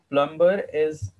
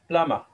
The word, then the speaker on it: plumber: But plumber. Is absolutely incorrect. Okay. It's plumber. Okay. Plumber. Because MB coming together, sound will be ma.